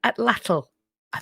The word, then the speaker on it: atlatl: love to see there's a weapon called an ATL I that's how you pronounce it it's referred to as an equalizer